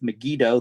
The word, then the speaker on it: Megiddo: How do you spell that, Megiddo? Megiddo. It is Megiddo.